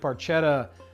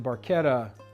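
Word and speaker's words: Barchetta: that song by Rush the red Paretta which is actually Baretta sorry rush you mispronounced it that song kind of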